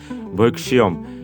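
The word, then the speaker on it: ভৈক্ষ্যম্: তাহলে দেখো ভৈক্ষমের শুদ্ধ উচ্চারণটা চলে আসতেছে ভৈক্সিয়ম।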